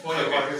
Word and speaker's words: Feuerbach: ¿Eso se pronuncia Feuerbach? Feuerbach, sí.